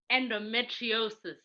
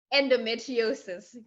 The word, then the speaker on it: endometriosis: I asked her to pronounce it for me earlier because I was like, Right. it's what? Tell me. Endometriosis. Endometriosis.